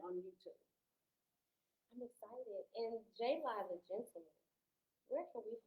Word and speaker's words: JaLi: And if you can't find that for whatever reason, it's just JALI on Instagram and JALI on Facebook. And y'all, it's pronounced JaLi. Because I know a lot of people, they try to. Jolly.